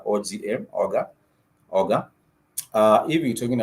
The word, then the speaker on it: oga: If you want to talk about, I mentioned the other verbs, for example, shower, it's oga, O-G-A, oga, oga.